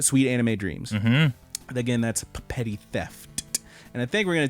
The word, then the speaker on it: Petty Theft: That is how it's pronounced. 2 P's at the beginning, 2 T's at the end. Petty Theft.